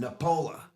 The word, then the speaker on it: Nepola: Todd Nepola. Is that the way we pronounce it? That's how you pronounce it. Nepola.